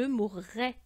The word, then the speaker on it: mourrai: d'accord donc c'est un c'est important de bien prononcer ces deux R qui se suivent dans le verbe courir même chose d'ailleurs pour le verbe mourir je mourrai tu mourras il mourra